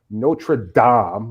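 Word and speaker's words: Notre-Dame: full video of their notra Dam apparently is the way I'm supposed to be pronouncing it yes that's that it though notredam uh projection and drone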